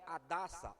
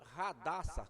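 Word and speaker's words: Hadassah: E o seu nome era Adassa, ou Radassa, como alguns pronunciam.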